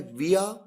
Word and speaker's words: via: VIA जिसे दो तरीके से प्रोनाउंस किया जाता है, विया या वाया।